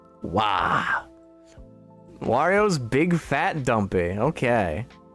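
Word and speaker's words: を: was it it's it's looks like it should be pronounced wo but it kind of sounded like they were saying O but it should be wo cuz we already have o but that's we're sitting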